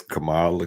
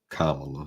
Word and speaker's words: Kamala: been doing doing that on um I guess Cala Kam Kamala Cala it's hard to i' be thinking the right name right pronunciation whatever but it it